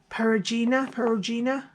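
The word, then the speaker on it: Perugina: And I made it to fit these Baci candies from Periguina.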